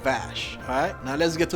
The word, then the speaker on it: Vass: keep saying in vash when the box is vast but that's because vas is actually pronounced Bosch I know it's hard for me to be